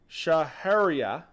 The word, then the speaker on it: Shahryar: R, like a pirate.